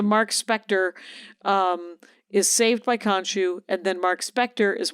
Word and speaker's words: Khonshu: first thing he sees is the statue of Kanchu, the moon god. Okay. Oh my God! Konshu, right? Khonshu. Okay, Khon. So, Okay. Kanchu. Okay. If we're gonna do the Stewie pronouncing Kanchu.